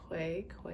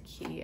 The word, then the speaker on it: Quay: I used to say Quay Australia, but then it's Key. I don't know. They said it's Key because I saw Kristen Teigen came out with a line and they were saying pronouncing it's Key.